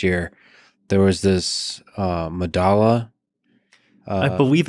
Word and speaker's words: Medalla: there was this uh medalla i believe it's pronounced madasha it's a south american subway station i forget where but spelled with two l's yeah yeah because that's you know that's how spanish works right like the two